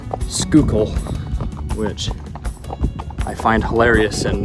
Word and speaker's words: Schuylkill: I've just been informed that the Schuylkill River and the whole region of Schuylkill County, is actually pronounced Schuylkill, which I find hilarious and not near as interesting as my version.